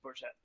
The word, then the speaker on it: Bourget: are always wrong but is it in bour Ontario or do they call it bourgette uh I mean I'm sure there's people that pronounce it that way for sure but uh I I've always heard it as bourette bourette Okay so bourette